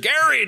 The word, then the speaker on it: Gerry: to know that about the Gary they said Eldridge Jerry you know she thinks she's heard gerrymandering so many times she mispronounces his name so so one question